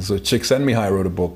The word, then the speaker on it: Csikszentmihalyi: Most people can't pronounce his name, but Kotler taught me the pronunciation. So Csikszentmihalyi wrote a book called Beyond Boredom and Anxiety.